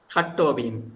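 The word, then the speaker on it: הַטּוֹבִים: The syllable for this at-ovim, shall we break at then tovim, or we have to say at-ovim? Hat-tovim, together. Together. So when it's added, it becomes part of the word.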